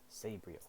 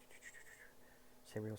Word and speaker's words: Sabriel: And also another thing I learned is there's two ways to pronounce it. You can say Sabriel, you can say Sabriel, but I have an accent, I guess, so I say Sabriel.